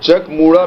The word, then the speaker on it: Chak Muda: spins The Chariot around that's what Chuck mura means but it is pronounced now check mura means to spin your